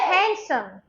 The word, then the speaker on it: handsome: rhino rhino rhyme rhyme D is silent in these words sandwi sand repeat after me not sandwich sandwich sandwich Wednesday Wednesday Wednesday Wednesday handsome handsome I can say